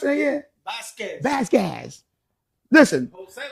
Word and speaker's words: Vasquez: How you pronounce it again? Vasquez. Listen. Jose Vasquez, my friend.